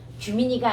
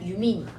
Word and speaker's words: 유민: 규민이가 아니라 유민이.